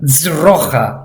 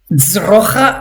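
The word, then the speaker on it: ძროხა: Dzrocha and dzagli. If you want a tip, I sometimes imagine that I'm saying the word does. I want this z sound to really be pronounced.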